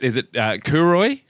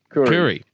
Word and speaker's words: Kuroi: Oliver, is it Kuroi? Kuri. Yeah, Olly Kuroi, right? We'll give you credit there. I've been pronouncing that name wrong the whole time then.